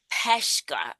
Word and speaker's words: Peshka: Welcome to the show, Miss Ann Peshka. I didn't even ask how we pronounce it.